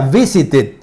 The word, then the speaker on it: visited: Visit termina en T, por lo tanto se pronuncia como it. Sería visited, ¿ok?